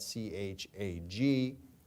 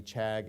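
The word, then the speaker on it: חַג: It's spelled using the English alphabet, C-H-A-G, appears to be chag. It's actually pronounced, if you consider how the Hebrews language, how they use the C and H together, it's pronounced chag.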